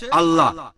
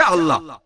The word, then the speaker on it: আল্লাহ: একইভাবে আমরা জানি সঠিক উচ্চারণটা হচ্ছে আল্লাহ। তারা বলে এলা, আমরা বলি আল্লাহ, সমস্যা নেই, সঠিক উচ্চারণটা হচ্ছে আল্লাহ।